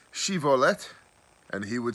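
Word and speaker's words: shibboleth: then they would say to him please say shivolet and he would say shivalette for he was unable to pronounce it right just like i am then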